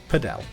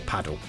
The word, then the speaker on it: Padel: And it even includes Padell or Paddle depending how you want to pronounce it which is a very very good sport up and coming at the moment.